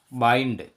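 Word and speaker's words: bind: बी आई एन डी, बाइंड।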